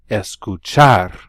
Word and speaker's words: escuchar: ski are to ski notice that I stressed that last syllable on these verbs bailar escuchar música practicar des portes